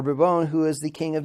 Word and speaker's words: Bourbon: with no air except Henry a bourbon who is or burbone who is the king